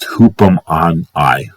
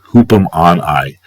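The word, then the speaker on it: ὑπομονή: So, and then finally, Thayer's Greek lexicon for 5281, which is pronounced, gotta go back over here, 5281 is pronounced hoopum on I, hoopum on I, U-P-O-M-O-N-H, U-P-O-M-O-N-H.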